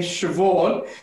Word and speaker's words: Siobhan: Some names are complicated, like the name Siobhan, because the way you spell it, it's not the same way as you pronounce it.